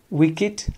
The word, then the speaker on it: wicked: also has got exception so here according to this rule both these have to be pronounced Nate Truths wikked idea but remember they are exceptions so their pronunciation will